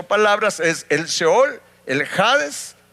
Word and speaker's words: Seol: respecto y de hecho la palabra Seol eh O shol como le dicen también que así se en español así se escribe Pues de la traducción